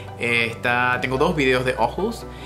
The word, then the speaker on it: Aarhus: primera ciudad fue ojus o para los hispanohablantes Sería más claro identificar como arus arus Pero se pronuncia ojus en en danés y de allí conocí